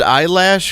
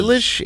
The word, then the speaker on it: Eilish: By the way, is it pronounced eyelash? Because I've been confused for 2 years. Is it? Is it like It looks like stay confused. eyelash. Is it It does. Eilish? Illish?